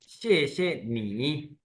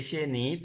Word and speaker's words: 谢谢: देखिए इसमें आपने ये नोट करना है कि शे पहले श पे जो है वो है टोन दूसरे पे नहीं तो इसलिए हम पहले वाले को पूरा स्ट्रेच से पढ़ेंगे और दूसरा न्यूट्रल शेनी ठीक है शनी मीन्स